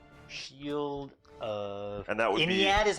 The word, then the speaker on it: Iniad: Shield of and that would Iniad is how you say it?